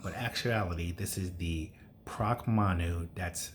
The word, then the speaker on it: Pracmanu: on it um but actuality this is the proc manu that's spelled p r a c m a n